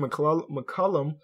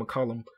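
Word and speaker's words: McCollum: the Year Mo improved is still CJ M McCullum I always say his name wrong CJ McCullum um and Randy Whitman was the coach of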